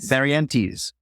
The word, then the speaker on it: Barrientez: As I pronounce it correctly? That works. I don't know if I did. Barrientez? Barrientez.